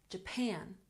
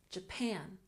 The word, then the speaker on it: Japan: first syllable traveled traveled Japan has emphasis on the second syllable Japan Japan recently emphasis on the